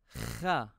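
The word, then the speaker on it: خ: As before, it's helpful when pronouncing these groups of letters to hold your hand at your throat. The Kha will produce a vibration. You can also feel the muscles contracting to make this letter.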